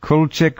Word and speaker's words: Kulczyk: Kulczyk. We'll find out. Are you there, Konrad? Yes, I'm here. Good evening, Jeff. Good evening, everybody. Good evening. And did I pronounce it Kulczyk right?